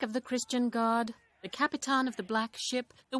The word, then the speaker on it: Capitan: the Christian God, the Capitan of the Black Ship. The word Capitan. It's the Portuguese pronunciation of the word captain, but rather than translating